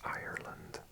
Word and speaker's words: Ireland: I say both words the same in my pronunciation, but Americans and Irish people pronounce the R a lot stronger, so it'd be Ireland.